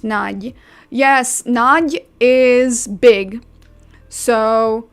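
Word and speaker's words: Nagy: All I know is the most common last name in Hungary is Naj and it's pronounced Naj.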